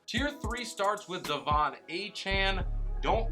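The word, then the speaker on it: Achane: to running backs tier three starts with Devon aan don't like it actually hate it but that is how he says it's pronounced so we're going to run with it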